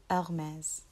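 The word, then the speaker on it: Hermès: to say Hermes um that's how I used to hear it and so it's incorrect the way the original way to say is Hermes Hermes so the next one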